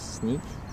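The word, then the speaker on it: Sneek: over here all right hello it's his name's sneak um i don't know how it's spelled get more cards asap i know i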